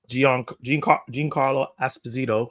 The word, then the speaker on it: Giancarlo Esposito: Giancarlo Esposito, because that's how you're supposed to say his name, I guess, apparently, will star as Sidewinder, the King of Serpent Society.